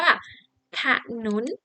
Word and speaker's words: ถนน: มี รูป สะอาด กำกับ เวลา ออก เสียง อะ เรา จะ ออก แค่ ครึ่ง เสียง นะ คะ เช่น อ่า 1 ตัว อย่าง เช่น คำ ว่า ถนน นั่น เอง นะ คะ